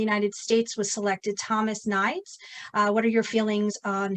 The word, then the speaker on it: Nides: I'll take no credit for that because his name is spelled Nides. Everyone said it says Nides, and they can't get it right. It's Nides.